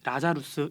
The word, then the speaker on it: 라자루스: 잘 아는 성경속 인물인 나사로의 영어식 발음이 라자루스 있니다 아 근데 그런 곳이